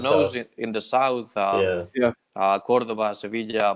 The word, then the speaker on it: Sevilla: But Richard knows in the south, Cordoba, Sevilla, Malaga, and all these places. This is the Spanish pronunciation, by the way.